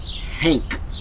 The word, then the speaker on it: Hank: I'm not saying Hank with a T at the end. I'm saying it with a K at the end. Hank.